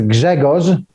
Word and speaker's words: Grzegorz: My first name is Grzegorz, and RZ is Z in Polish.